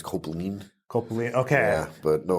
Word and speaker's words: Kopplin: Copeland. Yeah. It's actually, it's German, and it's Copeland.